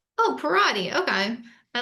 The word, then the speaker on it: Perrotte: Today I am with Gino Parodi. Am I pronouncing your name correctly? Parodi, like karate. Oh, Parodi.